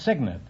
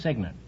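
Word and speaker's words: cygnet: yes is that all right what is the correct word meaning a baby swan baby no it's signet it's spelled c-y-g-n-e-t but it's pronounced signet well you uh still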